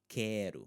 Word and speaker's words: quero: Quero, not quero.